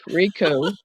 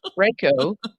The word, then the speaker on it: Reiko: down some stairs once Rico Reiko right Roomba say it like